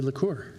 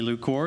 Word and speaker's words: Lacour: Bradley Lacour. Hello, thank you. And uh spot-on on the pronunciation of my last name. Thank you. Good evening, Board of Commissioners. I'm Bradley Lacour, your public information officer and communications manager.